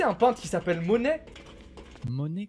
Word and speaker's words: Monet: Monet comme l'argent? Bah, ça s'écrit pas comme ça, je crois que c'est ET à la fin, mais c'est un peintre reconnu.